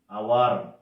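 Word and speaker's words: hour: Nitu has been riding cycle for 1 ঘন্টা ধরে, ফর অ্যান আওয়ার। আওয়ার মানে ঘন্টা, এখানে আওয়ার ও সাইলেন্ট লেটার, তাই আওয়ার ওই জন্য অ্যান বসেছে।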